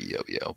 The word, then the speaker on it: Jojo: let go and then jojo is like well we'll just see we really should just call him yo-yo yeah i mean if you're pronouncing it correctly it would be yo-yo but it's always just